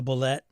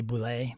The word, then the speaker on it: boule: and then I say so I'm kind of torn on the bullet I know it's supposed to be Boule but I don't know